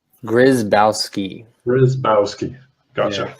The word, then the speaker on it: Grzybowski: on right now so how do you pronounce your last name grazed outski where is mouse key gotcha is that French